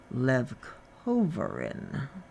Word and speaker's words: leucovorin: And the pronunciation on that drug apparently should be leucovorin.